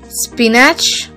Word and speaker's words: spinach: Now, S-P-I-N-A-C-H. Spinach. Is it correct? No. It is often mispronounced as spinach. But the correct pronunciation is spinach.